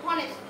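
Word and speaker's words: honest: এন হনেস্ট ম্যান, এখানে কিন্তু এইচ থাকা সত্ত্বেও এন বসে, হনেস্ট। এইচ এর উচ্চারণ হয় এর মতন না হয়ে অ এর মতন হচ্ছে, মানে ভাওয়ালের মতন হচ্ছে।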